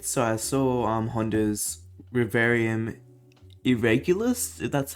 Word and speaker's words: Reverium Irregularis: pretty risky trade so i saw um honda's rivarium irregulous that's how you say it but i saw